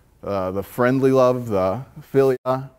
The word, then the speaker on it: philia: Pretty sure it's philia, might be mispronouncing that, but you had friendly love, right?